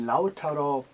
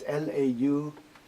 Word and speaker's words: Lautaro: And Lautaro, right? Yeah. It's Lautaro, Lautaro. Yeah. Is it pronounced properly?